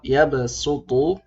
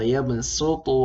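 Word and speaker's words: يَبْسُطُ: Nah, di sini tatkala kita membaca dengan jalur Syatibiyah yang 4 harokat pada mad jaiz munfasil, maka kita membacanya dengan huruf sin saja. Wallahu yaqbidu wa yabsutu wa ilaihi turja'un.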